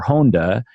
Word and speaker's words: Honda: have last names so my last name of Honda or Honda as we pronounce it you know it's